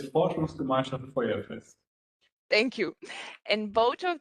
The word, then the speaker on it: Forschungsgemeinschaft Feuerfest: And here I will ask for help from you if you can pronounce me full FGF, because I will not try. Yeah, it's Forschungsgemeinschaft Feuerfest.